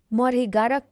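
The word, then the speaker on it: 머리카락: Hair hair माने कपाल यसलाई कोरियनमा मरिगारक भनिन्छ। मरिगारक यसको उच्चारण मरेगारक हुन्छ।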